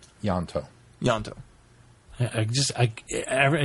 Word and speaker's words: Ianto: him say his name yanto yanto I just I I hear you say yanto ianto it's trying to throw the eye in I it's not yanto right y it's yanto okay but I'm just